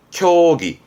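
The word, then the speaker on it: 協議: 발음은 쿄기.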